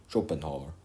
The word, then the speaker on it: Schopenhauer: Schopenhauer. Right, that's how you pronounce it.